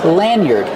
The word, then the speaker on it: lanyard: Lanyard. Use a short a like hand and man. Lan. Lanyard. Use the sound like bird and word. Yard. lanyard.